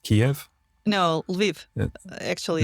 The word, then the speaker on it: Lviv: Yes, Ukraine, but you're in how is it pronounced? Kiev? No, Lviv. Actually, Lviv. Lviv.